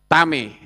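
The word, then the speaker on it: טמא: Sementara yang bawah tet mem alef membacanya tame.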